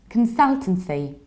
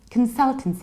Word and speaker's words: consultancy: the activity its analogically consultancy consultancy in the British English can sell to see which is beginning stress second syllable produced ending consultancy consultancy and in the American accent analogically its consultancy consultancy or consultancy consultancy in our example